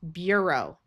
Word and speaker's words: bureau: And this ur is going to have a long u sound. So this is bureau.